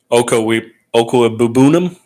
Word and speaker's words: Okwuegbunam: I'm going to try to say it like Troy Aikman said it. Okwuegbunam.